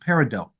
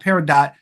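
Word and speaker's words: peridot: one gemstone they think of parad and it's pronounced parido parido the TS it's not paradot it's parido okay so let's just get that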